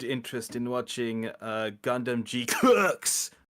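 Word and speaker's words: GQuuuuuuX: in watching uh Gundam G Cooks right which is the only way I can think to pronounce that I've seen other people pronounce it as G cucks or G quack right but the only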